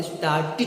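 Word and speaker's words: started: क्यों, क्योंकि नियम तो कहता है कि अगर कोई वर्ड अंत करता हो टी से या डी से, अगर उसमें ईडी जोड़ दे तो उसका प्रोनाउंसिएशन ईड हो जाएगा, न कि एड होगा, इसलिए हम इसे स्टार्टेड ही कहेंगे।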